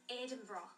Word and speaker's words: Edinburgh: The pronunciation of our capital city in Scotland. Say it. It is Edinburgh.